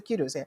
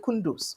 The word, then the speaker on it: kudos: while speaking English, particularly his pronunciation of kudos as kundus. He said kudos. He wants to say kudos. He said kundus, right?